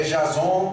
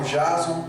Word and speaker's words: Jason: E, como o Edu já falou, meu nome é Jason, outros me chamam Jason, outros me chamam Jason, que é a pronúncia inglesa.